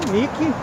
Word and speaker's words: Nike: a a deusa grega nike o xixi que não se pronuncia níquel nike mas eu acho que